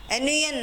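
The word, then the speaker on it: none: But sound of the word is N-U-N, nun also we are pronouncing as a nun.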